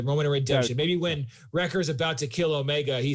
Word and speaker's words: Wrecker: one say my name it's wrecker not rick richard yeah so like